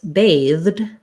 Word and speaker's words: bathed: sound so when i'm using the past tense bathed bathed um the challenge is i have to